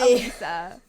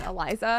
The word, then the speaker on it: Elisa: Elisa. There you go. There you go. I'm doing Elisa Lam. It's literally spelled like Elisa, Yeah. so I don't know why I'm saying Eliza.